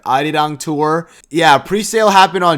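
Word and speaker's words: Arirang: Adidang Tour.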